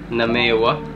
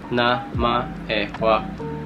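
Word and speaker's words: なまえは: Example, if you write in romaji, it can sound like namewa. But if you write in hiragana, you can read it like namaewa.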